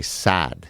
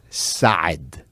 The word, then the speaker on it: Saad: Okay so for example my last name everybody all Americans will say sad you just extend the a but the proper way to say it it's God side right it's like Arnold like if Arnold was gonna say it it's sort of like